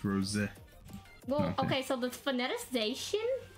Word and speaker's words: Rosa: Yeah, I thought it was R-O-S-A. Like Rosa, but it's Rose.